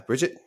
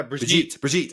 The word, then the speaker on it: Brigitte: Yeah, Bridget. Yeah, Brigitte.